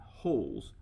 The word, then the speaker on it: Rolls: So I pronounce his name Holz, but it's spelled R-O-L-L-S, as in rolls.